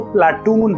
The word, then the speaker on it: Plato: असल में प्लेटो का जो नाम है ग्रीक भाषा में वो प्लाटून है, और जब हम इंग्लिश में उसको प्रोनाउंशिएट करते हैं तो एन को हम छोड़ देते हैं और प्लेटो प्रोनाउंस करते हैं।